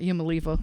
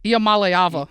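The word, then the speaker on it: Iamaleava: IAM hold on there's AA nope it's not IAM Mala it's IAM malava IAM malava is how you pronounce his last name I figured it out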